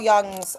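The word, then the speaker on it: Jung: Um so let's look at Carl Young's um collective unconscious ideological perspective around shared grief. So the Swiss psychiatrist Carl Young and that's spelled J U N G.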